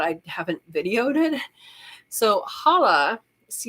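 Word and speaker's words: challah: look it up and it's pronounced without the C in the front I believe somebody who is Jewish might correct me but I believe it's Hala and it uses saffron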